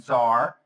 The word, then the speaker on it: TSAR: label thing was was the band Zar. TS A R. We have to spell it even now.